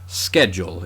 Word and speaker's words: schedule: And typically speaking, a lot of Greek loanwords that begin with SCH, like the word school, are pronounced sk. Schedule in this case, whereas it's words like schmaltz that came from German that get that kind of sh sound.